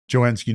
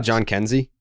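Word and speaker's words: Jhonkensy: We do have to highlight Joenski Noel. Yeah, I mean we can't just. Isn't it John Kenzie?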